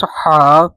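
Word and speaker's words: ح: This Ha without a dot is Ha. Ha. It's light. And this Kha, this one is with a dot on the top is heavy.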